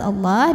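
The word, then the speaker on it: الله: Lam pada lafaz Allah dibaca secara tafkhim karena huruf sebelumnya berbaris fathah, maka bacanya ditebalkan. Allah, faminallah, pangkal lidah kita naik.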